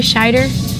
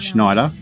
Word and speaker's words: Scheider: It's Scheider, not Schneider.